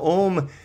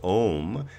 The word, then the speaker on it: Om: an OM symbol now ohm can be pronounced one of two ways it could be pronounced ohm as a single syllable or it can be broken into three syllables and that is ah okay into three separate syllables one of my favorite